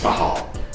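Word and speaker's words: Cathal: And the H means you breathe the syllable in instead of breathing it out.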